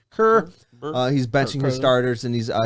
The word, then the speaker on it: Kerr: Kerr.